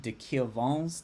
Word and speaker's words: de Quervain: It's a condition called de Quervain's tenosynovitis. So yes, it's pronounced de Quervain because it's a French name from this Swiss guy, Fritz.